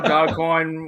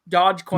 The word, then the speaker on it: Dogecoin: I also, Worst Dog Show, Dogcoin was mentioned as well. Okay, it's not Dogcoin. I'll tell you that. Dogecoin. No, you have to at least know how to pronounce it. It's Doge. Dogecoin.